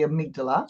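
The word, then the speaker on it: amygdala: what are they saying but it's actually the amigdala you know I did a YouTube video before where I pronounced it wrong the whole bloody video oh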